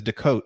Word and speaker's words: Decote: But because of that, I started referring to it as Decote, because in French, my name is Decote. So I eliminated the S. So for the past 25 years, I haven't been pronouncing the S. My brother still pronounces the S. So I guess there's no right or wrong way.